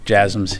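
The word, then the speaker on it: JASSM: um to Ukraine there's been some reports about jums if I'm pronouncing that correctly the last question yes jasms yeah you're pronouncing it correctly um I I don't have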